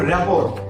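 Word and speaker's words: rapport: এবার তুমি বানান করো রেপর আর এ পি টি ও আর T repo রেপোর শব্দের অর্থ কি রেপো শব্দের অর্থ সম্পর্ক বা বন্ড ঠিক আছে টি সাইলেন্ট থাকার কারণে এখানে আমরা রেপোট বলি না আমরা বলি রেপোর্ট এবার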